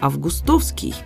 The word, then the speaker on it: Августовский: редакцией аванесова Августовский но здесь нам предлагают еще один допустимый вариант Августовский Что значит допустимы это значит что он тоже в пределах литературной нормы и ошибки особо не будет можно даже предположить